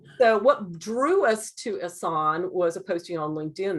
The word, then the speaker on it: Ehsan: Ehsan, I had Ehsan right. I had to look up how to pronounce this.